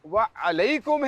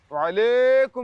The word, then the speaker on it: وعلیکم: وعلی وعلیکم ہے نا, یا ساکن سے پہلے زبر ہے تو یا لین ہوتا ہے نا بھائی. تو وعلیکم ہے, وعلیکم السلام.